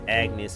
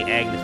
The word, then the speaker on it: Agnes: I always say Agnes for some reason, but Agnes. I'm trying to pronounce her name right.